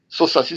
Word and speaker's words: Sosaci: Facebook é só Facebook, Sosaci, escreve S-O-S-A-C-I, né? É um S só do Saci, não apesar da gente pronunciar Sosaci, é um S só.